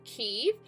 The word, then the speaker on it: Kyiv: of the same word some sources refer to ke KY IV which is the Ukrainian spelling and others to Kev K IE V the Russian spelling so I'll be using